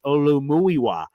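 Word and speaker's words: Olumuyiwa: it to her to start fully and appreciably saying the name as the gods intended. Olu Muiwa uh Anthony Fischanu.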